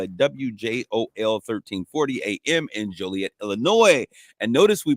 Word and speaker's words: Joliet: We failed to give a shout out to the wonderful people at WJOL 1340 AM in Joliet, Illinois. And notice we pronounced that right, because as we told you